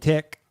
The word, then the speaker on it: Tech: Let us know whether you're considering picking up Wrecker and Tick, because that's supposedly how you say his name, apparently. And It's Ricka and Tick. You gotta say Ricka Ricka.